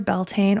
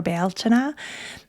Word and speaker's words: Beltane: Beltain or baltina. Beltain is more typically the way it's pronounced by non-Irish speakers these days.